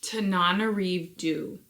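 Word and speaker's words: Tananarive Due: Tanana Du is how you say it if I understand correctly.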